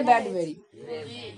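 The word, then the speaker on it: Bradbury: পারবো খুবই একটা ইন্টারেস্টিং গল্প রাইটারের নাম কে উচ্চারণ করতে পারবে দেখি রে ব্যাডবেরি রেড হ্যাঁ না ক্যাডবেরি মনে রাখো তাহলে উচ্চারণ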